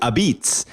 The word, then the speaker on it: apizza: full name is Sally's a-p-i-z-z-a and the way that that's pronounced is abits and this is a